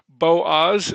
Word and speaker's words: Boaz: It's Boaz. Is that how you said it? Boaz.